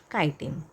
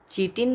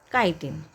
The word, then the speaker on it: chitin: उसको हम कहते हैं काइटिन. दो द स्पेलिंग इज़ CHITIN. उसका प्रोनाउंसिएशन हम चीटिन नहीं कर सकते, उसका प्रोनाउंसिएशन है काइटिन.